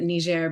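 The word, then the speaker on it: Niger: in ner and I I proun it ner because it's um the French pronunciation yeah um that's the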